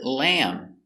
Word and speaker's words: lamb: I don't eat lamb and the B is silent no lamb finish with the m sound lamb and remember lamb is